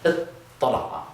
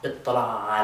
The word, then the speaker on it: اطّلع: And with tala'a, we're going to change that ta to a ta, but then we're going to have two tas, which means that we can do the same trick we did up here and put them under one roof with a shadda. Ittala'a.